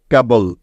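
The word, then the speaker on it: cable: মনে আছে তো সবার যে শব্দের শেষে বি এল ই থাকলে তার উচ্চারণ সবসময় বল হয়ে যায় তাই না তাহলে কে এবং বল একসাথে যোগ করলে হয়ে যাবে কেবল কেবল কেবল মানে হলো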